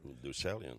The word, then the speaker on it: Deucalion: Ja, From the Days of Deucalion. Deucalion, ja. Klemtoon, hè? Ja, man.